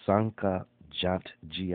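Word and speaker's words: Jantjie: the fake interpreter uh tom sanchez g i believe is how you would say his name but uh j-a-n-t-j-i-e look it up he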